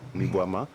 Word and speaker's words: Mi-Boama: Et ce produit, il est baptisé Mi-Boama. Oui. Mi-Boama. J'espère que je prononce bien. Tu prononces, mais c'est juste l'intonation qui n'y est pas. D'accord. Alors, prononcez alors avec l'intonation qui va avec. Mi-boam. Mi-Boama. Mi-boam.